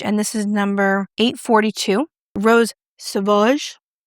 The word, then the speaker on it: Rose Sauvage: The next shade is Rose Savage, and this is number 842. Rose Sauvage. Beautiful. It's nothing like I pronounced it. It's Rose Sauvage.